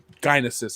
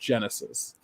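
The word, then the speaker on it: Genisys: the other dark favorite Dinah sis even though it's pronounced Genesis why I ever seen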